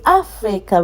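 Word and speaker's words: África: There's an accent on the A. So we say Africa, we don't say Africa. Because under normal circumstance, we would have said Africa because the Africa is ending with a vowel.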